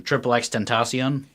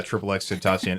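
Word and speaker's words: XXXTentacion: I think Heather pronounced it. I'm assuming she has the correct pronunciation. Triple X Tentacion. Okay, yeah, Triple X Tentacion.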